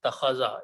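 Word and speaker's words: اتّخذ: And in this particular bab, this particular alif is pronounced as a ta. So what is it? Ittakhaza.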